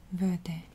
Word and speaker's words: verde: But in Spanish, you would say verde.